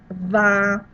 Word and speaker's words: vin: for you girls is anytime you have in French IN, it's pronounced un, so vin. I saw it somewhere else in here, divin at the end, that rhymes. So don't pronounce it as in or in, it's un.